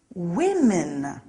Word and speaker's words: women: men woman becomes women look out for that one the pronunciation is a little strange woman women some nouns stay the